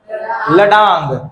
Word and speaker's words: ladang: और मलेशिया में क्या बोलते हैं, लडांग, क्या बोलते हैं, लडांग या फिर लडैंग, जो बोलना है बोल, स्पेलिंग याद रहना चाहिए, ठीक है, LADANG, ठीक है, लडैंग मलेशिया में।